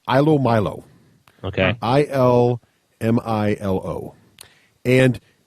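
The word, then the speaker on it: ilomilo: It's called, I believe it's pronounced Ilo Milo.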